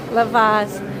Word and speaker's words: Lavazza: And how do you pronounce that? Lavazza? Okay. Thank you. Lavazza.